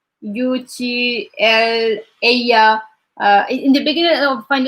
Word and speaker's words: ella: As like UTL, ella. In the beginning, I find it like very hard like to remember. It's like ella is not illa, because it was different.